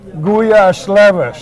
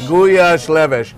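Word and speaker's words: gulyásleves: we've got gouia soup you pronounce it guash leves guash leves and this is one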